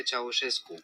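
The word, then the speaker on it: Ceaușescu: Communist Party under the terrifying regime of Nikolai Chachescu or Kakusu or however you say his last name. Let's see what it is. Nikolai Chawescu. Oh, Nikolai Chowichescu. Yes, I remember how to pronounce it.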